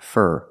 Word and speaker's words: for: do for a living the four is pronounced fur for a for a